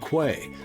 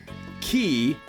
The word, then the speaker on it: quay: pronounced Ki K and Quay but actually these words are all pronounced the same key key is an accepted